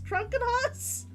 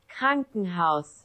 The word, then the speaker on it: Krankenhaus: I don't hear the R being pronounced at all. Krankenhaus.